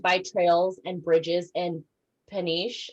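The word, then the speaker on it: Peniche: trails and bridges and paniche i can't remember how you pronounce it yeah yep you said it perfectly it's finished okay um so that's called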